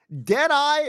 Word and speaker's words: Deadeye: Deadeye rhymes with pie, and pie is good, right?